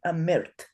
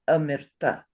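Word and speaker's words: amṛta: How do we know this does not say amirt? How do we know it does say amirta? It's because it's a vocalic R, so the M gets the R as the vowel instead of any other vowel.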